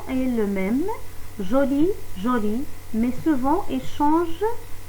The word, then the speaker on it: jolie: Alors, pour la prononciation de joli et jolie, c'est le même, mais la différence, c'est en écrit.